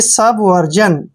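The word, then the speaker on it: subversion: क्या पढ़ना है जन क्योंकि जब भी आई से पहले एस आता है तो इसका उच्चारण हम ज करते हैं यानी कि सब वर्जन सब वर्जन सत्य नाश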